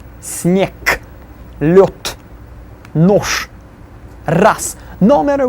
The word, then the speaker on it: снег: Then the next one, снег, will be снег.